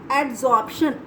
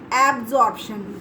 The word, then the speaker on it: adsorption: एड्जॉर्प्शन, इट इज़ नॉट एब्जॉर्प्शन, इट इज़ एड्जॉर्प्शन, डी।